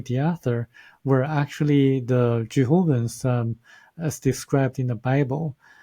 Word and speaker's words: Thiaoouban: We pronounce it THIAOOUBANs, but in French, if you really pronounce it, it's actually the Jehovahans. Very similar to Jehovah or Jehovahans, but there's really a